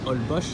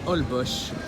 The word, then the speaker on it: Holbox: hall bosh ont dit hall poche ça s'écrit holbox h qu elle a prouvé aux x mais on prononce hall bosch à la fao voilà